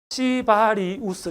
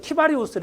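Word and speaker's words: cibarius: 이게 이제 식품에서 많이 나오는 생명체인데 이걸 갖다가 영어식으로 읽으면 발음이 좀 거시기 합니다만은 시바리우스 이렇게 되거든요. 이게 욕이 돼요. 근데 사실 학명을 제대로 읽으면 키바리우스 이렇게 읽어야 되거든요.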